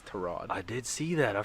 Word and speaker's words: Tyrod: Say his name right. God damn it. It's Tyrod.